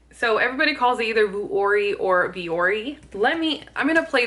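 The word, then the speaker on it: Vuori: Vori, Vori, Vori. Italian, Vori. Vori, Vori, Vori. How do you pronounce the name Okay, so there you go.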